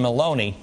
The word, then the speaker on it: Maloney: I want to play this um this sound from uh Carolyn Maloney. She's It rhymes with bologn.